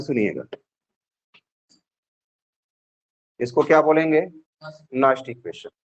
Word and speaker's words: Nernst: इसको क्या बोलेंगे नस्ट इक्वेशन।